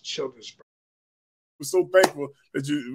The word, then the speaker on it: Childersburg: I don't exactly know the population, but it's pronounced Childersburg.